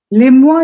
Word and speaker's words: les mois: Les mois de l'année. Les mois. S is silent. Les mois.